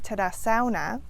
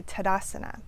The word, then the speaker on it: Tadasana: We don't say Tadasana, and we don't say Tadasana, we say Tadasana.